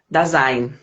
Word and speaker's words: Dasein: Dazen? É, é uma palavra em alemão, então a gente pronuncia Dasein.